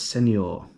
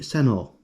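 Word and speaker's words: Señor: Pronounce it as Senor. I don't quite understand. There's no I in there. 3, Senor. Senor Pink. If I'm wrong, or if it's pronounced how whoever designed the card in the name in the first place, I'm still arguing with it spelled. It should be spelled I-O-R, not just O-R.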